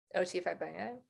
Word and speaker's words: Fagbenle: O.T. Fagbenle.